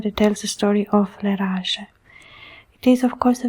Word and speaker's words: Leraje: The pronunciation of the name appears in different ways. Sometimes, as I've said, as you see it on the cover, Leraje, the way I pronounce it, but you can pronounce it Leraje or Leraje.